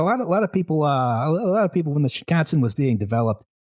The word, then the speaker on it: Shinkansen: But the first real dedicated high-speed train, the real thing was the Shinkansen Zero Series, 1964. Rhymes with Wisconsin.